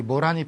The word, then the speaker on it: 모란: 자기가 가고 어떻게 가느냐 원래 목단 이라고 하면 내전 뭐라니 라고 해야 되겠죠 이 모란이 피기까지는 처럼 모란 이라고 읽어야 됩니다 그런데 이 모란 하고